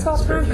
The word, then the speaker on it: Svart Crown: Did I pronounce that correctly? Yeah. Svart Crown? Yes, okay.